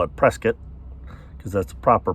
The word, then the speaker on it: Prescott: where if you're from Arizona you call it Prescott because that's the proper pronunciation but most people pronounce it Prescott but so one road is paid to Prescott